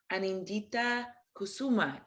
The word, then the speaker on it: Anindita Kusuma: I think our first singer is Anindita Kusuma. Am I pronouncing that correctly?